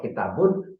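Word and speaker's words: كِتَابٌ: Kalau kitabun pakai doma. B, ba-nya menjadi bu karena dia pakai doma, kemudian dikasih nun. Itu namanya menjadi kitabun.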